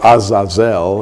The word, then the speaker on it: Azazel: Fallen Angels was called Azazel or Azazel it would be pronounced in the Hebrew and from The Book